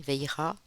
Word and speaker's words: Vajra: Et avec l'oracle hindou des dieux de la sagesse, nous avons Vajra, c'est comme ça que ça se dit, Veira.